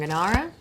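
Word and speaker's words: Gnara: Uh, they are Shefel pants from Ganara, right? I don't know. Don't know if I'm saying that right, but um G N you can probably say N, but G is silent.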